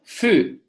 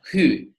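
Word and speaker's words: ふ: not pronounce it as who it should be ha hee hoo hello but who is today pronounced as food so ha hee hoo ha ha foo like in the word food on who done or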